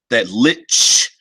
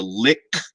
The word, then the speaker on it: lich: Vince says, of course, in the chat, in German, you pronounce the ch way more. That is how I pronounce it mostly. Old habits die hard. Yeah, that lich sound as opposed to lick.